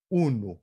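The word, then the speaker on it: unu: Então, o acento cai no U, uno, porque é paroxítono, né?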